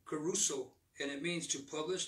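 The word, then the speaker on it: κηρύσσω: reached the last amen the word preaching the greek is pronounced caruso and it means to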